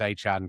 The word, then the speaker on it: Etienne: Etienne is now Travis Etienne cuz that's how it would be pronounced in Creole.